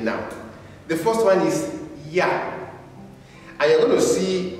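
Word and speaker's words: ja: this is different but in German you see that this one is pronounced like a y so the first one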